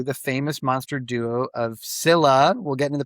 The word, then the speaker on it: Scylla: I do I do you can say Skila, you can say Skyla, but we're going to say Sila because that's the most um common one.